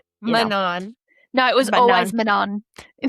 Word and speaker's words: Manon: No man because cuz a lot of people say manon, you know, and they don't say and it's manan.